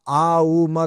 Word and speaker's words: ओम: लगे भाई हमने एक ये क्या बोला आ उ म तीन उच्चारण होना चाहिए।